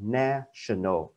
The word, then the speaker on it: national: Nation cứ theo bình thường sẽ đọc là national, nhưng mà không, khi nó đổi qua cái tính từ thêm cái này vào đuôi thì cái phát âm nó cũng đổi luôn là national, nó không đọc là national mà là national các bạn nha.